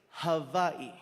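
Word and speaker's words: Hawaiʻi: First things first, the proper pronunciation is Hawaii.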